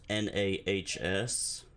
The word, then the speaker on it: nas: So we've got 0, which is Nas, pronounced Nahs.